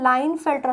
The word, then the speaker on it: Klinefelter: ने बताया बच्चे इसे लाइन फिल्टर सिंड्रोम बोलते हैं जैसे आप लिखते हैं तो पीस साइलेंट होता है इसे patailin नहीं बोलते